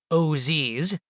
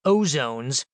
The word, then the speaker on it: OZs: When I first heard about opportunity zones, or OZs, sometimes pronounced Oz like the wizard, and occasionally called ozones, I was intrigued.